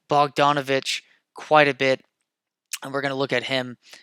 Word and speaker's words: Bogdanovich: Bogdan. I was pronouncing it right. Bogdanovich come off the bench,